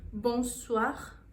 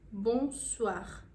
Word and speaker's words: bonsoir: se dá com o bom suar bom suar bom suar com sua O não famoso Boa noite e também puxa sempre dessa puxadinha aí no R quando a gente está